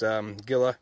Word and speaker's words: Gila: It's Gila, or Hilla is actually how they pronounce it.